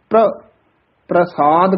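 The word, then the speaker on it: ਪ੍ਰਸਾਦ: और प्रसाद दा जिहड़ा उच्चारण है ये पप्पे दे हेठां चरणा च रारा है, इसका उच्चारण प्रसाद करना है। फिर आप जी गुरबाणी च जो दर्शन करोगे बहुत थावां ते रारा पूरा भी आउंदा है, उसका उच्चारण है प्रसाद। हेठां रारा जिहड़ा बोलना है उसनू कहना है प्रसाद, शुद्ध उच्चारण है गुर प्रसाद।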